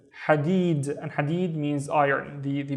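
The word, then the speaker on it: حديد: The first syllable is ha. So this wave with no dots. Ha, running out of breath. Ha. And then deed. Deed. Hadid.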